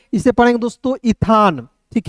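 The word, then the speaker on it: Ethan: तो यहां पे एक नाम है इसे पढ़ेंगे दोस्तों ईथान। ठीक है? इथान क्या एक नाम है।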